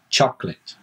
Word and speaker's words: chocolate: said choco but no we usually don't pronounce that on the middle it's two syllables it's chocolate also understandably people see